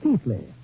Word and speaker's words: Keighley: ancestral town of Keighley, pronounced in England, Keithley. Although how they made Keithley out of K-E-I-G-H-L-E-Y, I'll never know.